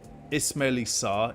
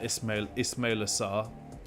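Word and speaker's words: Ismaïla Sarr: my picks are Odegaard, Ismaili Sarr. Is it Ismaili Sarr? Is that how you say it? Yeah, Ismaila Sarr, or it's Alex Iwobi.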